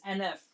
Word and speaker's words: NF: Because his name is NF. I always say HF. That's why. Yeah, it's NF.